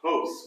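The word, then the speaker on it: ὅς: Or, Oh, host. Whoops, I didn't look at the accent. it's a rough breathing, Breathing mark, I right? So Hos.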